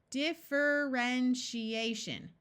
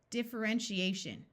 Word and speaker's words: differentiation: the suffix shun differentiation differentiation did do you remember the TI having the sh sound in a suffix here's another long word